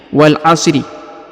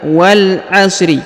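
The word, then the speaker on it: وَالْعَصْر: seperti di sini ya Wal Asri Padahal kalau kita berhenti di satu ayat satu ayat maka kita harus mukunkan ataupun mematikan setiap huruf ujungnya contohnya Wal asr bukan Wal Asri ya biasanya pemula Itu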